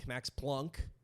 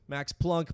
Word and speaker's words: Planck: until this one guy max planck max plunk they pronounce it plunk but it's spelled p-l-a-n-c-k he's the editor of the most important physics journal in europe max pluxum max plunk plucks him one of